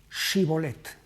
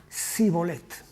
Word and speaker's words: Shibolet: Hay una diferencia en la pronunciación, Shibolet y Sibolet. Hay algunos idiomas, el inglés entre otros, en los que tienen esta diferencia entre shi y s.